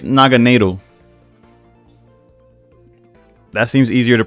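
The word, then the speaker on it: Naganadel: Okay, I got a Naganoodler. Okay, apparently it's Naganado. That seems easier to pronounce than whatever I was just trying to say.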